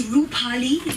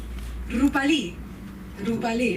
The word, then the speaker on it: Rupali: It's Rupali, like RuPaul. You know, the gay guy RuPaul. With an I, because I'm from India. Rupali.